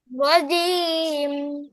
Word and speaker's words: رجيم: রজিম না রজিম রজিম رجيم রজিম رجيم আমার মতো বলো র জিম জিব্বা আছে না জিব্বার মধ্যভাগটা একবারে তার বরাবর উপরে তালুর সাথে লাগবে জিম জিম রজিম رجيم